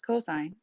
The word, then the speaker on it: cosine: however again you need to make sure you pronounce it as cosign and our last one is tangent so which